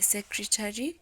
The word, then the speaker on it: secretary: Ask the secretary to organize the tea and snacks. So in that one, it's the first syllable.